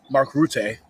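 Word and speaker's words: Mark Rutte: And then you have the head of NATO, Mark Route, I just learned how to pronounce his name correctly, saying there's an irreversible path to bring Ukraine into NATO.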